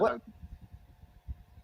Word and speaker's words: Haugen: Katrina Hagen.